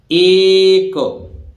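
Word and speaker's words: ache: तो देखिए यहां या सी के बाद ना आए, तो देखिए ए सी एच ई एक, तो एच यहां साइलेंट है, एक जानते हैं जब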